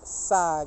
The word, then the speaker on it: saag: beet in it and it's called saag i think that's how you pronounce it s-a-a-g if you got any